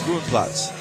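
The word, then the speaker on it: Groenplaats: See, I can't even say it right. It's Grondplatz. I'm getting corrected all day long.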